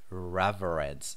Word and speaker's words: reverence: here is to venerate the noun is pronounced differently it is reverence so he says thank